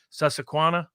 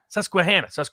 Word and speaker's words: Susquehanna: to their credit uh i'm going to mispronunciate their name sussequanna is that it susquehanna they just did another